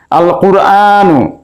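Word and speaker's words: القرآن: পারি আল হুরুফুফুফুফুফু শামসিয়া আল কুরআন এখানে আলিফ লামের লাম উচ্চারণ হচ্ছে তাই আমরা এটিকে বলতে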